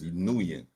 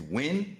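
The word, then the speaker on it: Nguyen: I know that's Nuian. His is spelled N A G. I mean N A G O O Y N. Wait, wait. So ng guen is win. That's not new.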